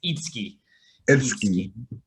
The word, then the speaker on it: Itsuki: oh yeah so so in that name the u isn't pronounced i don't expect anyone to know that but it's okay it's not it's not you it's a you know it's a japanese name it's itsuki yeah well i really